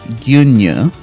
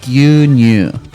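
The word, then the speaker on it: 牛乳: But there's a original Japanese word for milk, which it looks like is gyunyu. I'm pronouncing that wrong. I actually pronounced that almost like Chinese. That's wrong. Like gyunyu.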